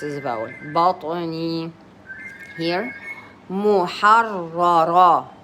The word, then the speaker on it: محررة: a vowel بطني here محررة مو ميم ضمة it's مو ح فتحة ح را with a سكون with a شدة and a فتحة محررة محررة and then the third